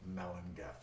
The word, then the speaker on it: Melangell: story to it it's called saint melendez and that's spelled m-e-l-a-n-g-e-l-l it looks like it would be pronounced saint melangel but in the welsh pronunciation would be pronounced saint melinda a very interesting story behind this piece of